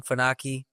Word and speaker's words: Funaki: get connected with you my name is faki m a r l n last name fuu n a Ki you can spell that out anywhere and you'll be able to